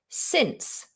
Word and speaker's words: since: Since, the C is followed by an E, so it will be pronounced as an S sound.